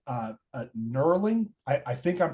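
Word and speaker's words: knurling: feature what's called uh nerling I I think I'm pronouncing that correctly it's spelled with a K but I assume it's silent uh but it's those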